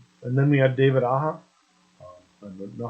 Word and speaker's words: Aja: And then we had David Aja. Now, how he likes that pronounced, it's AJA, so Aja, whatever, fantastic artist.